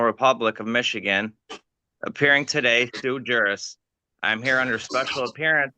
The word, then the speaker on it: sui juris: It's not sui juris, it's sui juris, a Latin phrase meaning of one's own right.